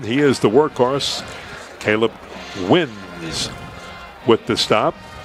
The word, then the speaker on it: Wines: Caleb wins with the stop. Spelled like the drink wines, but pronounced win. W-I-N-E-S.